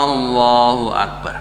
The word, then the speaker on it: Allahu Akbar: Anda tidak diperbolehkan memanjangkan kata alif dari Allah. Allahu Akbar. Tidak boleh diperpanjang. Doa atau takbir tidak sah jika diucapkan seperti itu. Karena jika Anda memperpanjangnya seperti itu, kata tersebut bisa menjadi kata tanya.